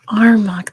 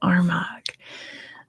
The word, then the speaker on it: Armagh: You don't pronounce the G. I thought it was like a guttural, like Armagh, like that. Help me out while you're here. While I have Armagh, there's no guttural.